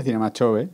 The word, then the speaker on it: Cinema Jove: es bueno aquí sería Cinema chove Cinema chove pero por ejemplo parece que no tengo Cinema yove Sería más pronunciado como en Cataluña Pero al final aquí se dice más cho más ch vale creo que si